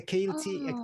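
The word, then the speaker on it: ceilidh: They had is it a Keelty? How do I pronounce it? Kaylee, yeah.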